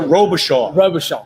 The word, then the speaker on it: Robichaud: I'll say Rochambeau. You tell me how it is. Robichaud. Sorry.